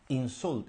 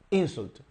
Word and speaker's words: insult: como sustantivo no verdad con la fuerza de la pronunciación en la primera sílaba insult insult perdón insult okay insult the Stress is on the first syllable meaning disrespectful or abusive